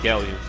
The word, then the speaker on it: Gallant: How do you pronounce that name? Gallant.